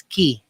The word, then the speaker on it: Quay: Nag-Australia dyan, first time ko dyan, so yung Quay pala is pronounced as Key. So sorry na kung Quay yung pagka-pronounce ko dyan.